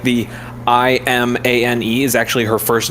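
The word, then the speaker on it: Imane: it's actually like the i-m-a-n-e is actually her first name her real first name and you pronounce it iman so it's literally pokemon but spelled like with a hybrid of her name so she was on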